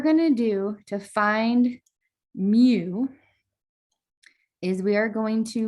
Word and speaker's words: mu: So this is pronounced mu. It's fun to say.